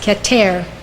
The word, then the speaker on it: Keter: spheroat is called Qatar spelled k-e-t-e-r pronounced Qatar it means crown as